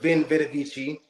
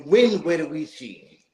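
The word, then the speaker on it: veni, vidi, vici: Case in point, we've heard Vin Vita Vici, I came, I saw, I conquered. It's actually Win Vita Vici, because the Punics or the Phoenicians, we don't pronounce the V's like V's. We pronounce the V's like W's.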